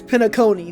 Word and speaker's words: Penacony: talking about they cringe every time that I pronounce Penacony. It's Penacony.